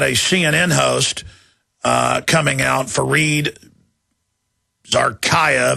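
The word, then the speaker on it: Fareed Zakaria: We've got a CNN host coming out, Fareed Zarkaya, that's how you pronounce it.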